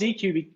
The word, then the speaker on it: Deequ: So these run as Spark jobs, and there's this open source library that's called Deque, and it's called Deque because it stands for data quality, D and Q.